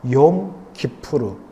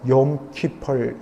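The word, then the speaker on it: יום כיפור: 그러나 속죄일, 이른바 욤 키푸르, 이것을 미국식으로 영어식으로 발음해서 욤 키펄 이렇게 말합니다.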